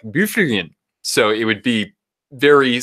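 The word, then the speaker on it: Byfuglien: The fact that Bufflin is pronounced, or that Dustin Bufflin's name is pronounced Bufflin, bothers me more than it should.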